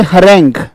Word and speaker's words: harangue: हरेंग्यू, हरेंग्यू नहीं करना है, हरेंग, हरेंग, शाबाश।